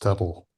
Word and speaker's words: TTL: TTL TTL is TTL is the actual formal name and it's it's pronounced Turtle.